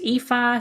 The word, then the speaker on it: Aoife: out the most but my name is spelled aoi f uh pronounced EA so aoi f e